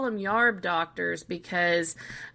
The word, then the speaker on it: yarb: now they call them yarb doctors because U they said yarb instead of herb and I thought well